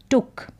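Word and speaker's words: took: टक इसे टक पढ़ेंगे तो डबल ओ का साउंड शॉर्ट भी होता है या यानी कि थोड़ा लंबा भी इसका उच्चारण होता है और छोटा भी होता है यहां पर टूक डबल ओ का साउंड शॉर्ट में आ रहा है टूक होता तो लॉन्ग में आता लेकिन वो गलत उच्चारण है टुक का मतलब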